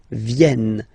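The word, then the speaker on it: viennent: So remember this classic ending and for the third person of the plural is here but phonetically doesn't exist. So you don't pronounce it. Vienn.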